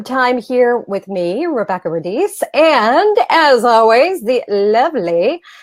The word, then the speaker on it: Radice: And she said Rebecca Radice, and I said, oh, no. It's Rebecca Radice. Radice. I love how you say that. I love that name. It is the true Italian pronunciation, right?